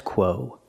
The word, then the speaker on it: quo: stat status the status quo the word quo make the sound quq quo it's a long o like no and go quo the status quo